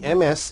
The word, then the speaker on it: Ms.: The MS is pronounced Ms.